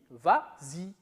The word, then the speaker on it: vas-y: Mais comme il est suivi d'un pronom, on ajoute le S pour faciliter la prononciation. Et on dit vas-y.